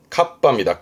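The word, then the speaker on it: 合羽: 발음은 갑바입니다. 갑빠 이때 합자 발음이요. 핫발 발바음입니다. 그러면 갑바 날개를 합했다가 어떤 거냐면 이거예요. 날개를 합한 거죠. 그죠? 비를 막기 위한 그 우비. 그 우비를 카빠 하는데 원래는 갓다 깔아 놨써요.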